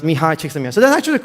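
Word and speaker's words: Mihaly Csikszentmihalyi: question and they said my name is pronounced mihai chicks so that's actually the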